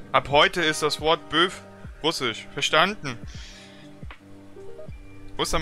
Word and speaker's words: Bœuf: Und Böf? Ich kann den Böf aussprechen, ja? Böfs Drogan auf. Es wird Böfs Drogan auf ausgesprochen.